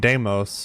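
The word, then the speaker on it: Deimos: he has another his brother named damos which is spelled D E I M oos damos and I just think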